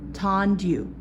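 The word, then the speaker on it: tendu: Now we're going to show you Tandu. First, Tandu is spelled T-E-N-D-U, Tandu.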